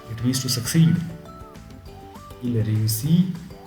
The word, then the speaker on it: réussit: Il réussit. But I don't pronounce the last t.